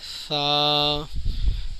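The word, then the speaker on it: ثا: صحیح تلفظ نہیں ہے۔ سا کے اندر سی ٹی کی آواز بالکل نہیں آئے گی، آپ کی زبان اوپر کے دانتوں کو ٹچ کرے گی تو اس کے تلفظ صحیح ادا ہوں گے۔ سا۔ اگلا حروف ناظرین،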